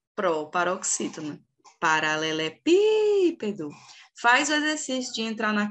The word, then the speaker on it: paralelepípedo: essa palavra é a proparoxítona paralelepípedo Qual que é a última é o dó não é a sílaba forte a penúltima é o pé também não é a sílaba forte